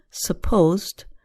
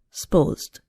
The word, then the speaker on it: supposed: but it didn't here a two syllable word supposed becomes more like one syllable sposed I'm and